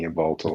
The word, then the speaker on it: Yveltal: Sorry, you're gonna have to help me with those pronunciations again. Xerneas and Yveltal.